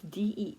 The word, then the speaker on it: Deen: But her one friend, his name is Dean or Din. It's Deen, I believe. Deen.